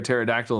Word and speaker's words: pterodactyl: can't you hear a pterodactyl in the bathroom I don't know I I can already see where this is because the p is silent foreign okay um